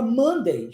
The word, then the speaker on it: Monday: outro exemplo a palavra Monday já falamos de de Friday que é a sexta Monday escreve-se com o mas pronuncia-se com o som de a viu e é segunda-feira